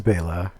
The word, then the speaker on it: Bela: josephine hutchinson bella lugosi actually it's bela lugosi according to bayla somebody brian bayla something who follows us on yeah facebook pronouncing things wrong he didn't rick did he likes to hear bayla instead of bella but it is bayla it is and it